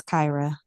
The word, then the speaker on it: Kyra: name because I know, is it Kyra, Kira? I know it can be maybe a couple different ways. Yes, so it is Kyra.